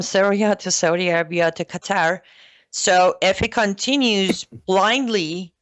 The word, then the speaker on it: Qatar: Qatar.